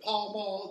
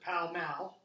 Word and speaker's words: Pall Mall: Down here you have, we pronounce it Pall Mall, they pronounce it Pall Mall, okay?